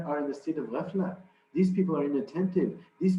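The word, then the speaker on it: غفلة: And ghafla in Urdu or Farsi or in those languages, what we call ghaflat. Ghaflat. But in Arabic, the ta is not pronounced, so it's ghafla.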